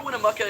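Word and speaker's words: Winnemucca: But Sarah Winnamaka is not the only person to recount this story. And also, I do apologize for pronouncing it Winnamuka all that time.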